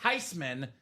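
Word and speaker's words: Theismann: mad that Joe changed name from thasan to Theisman she said no I was okay with it it's actually pronounced tyman we're all living a lie all along so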